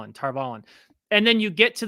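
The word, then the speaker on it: Tar Valon: I'm going to say Tarvalin because that's how it's been pronounced for decades because of the audiobooks.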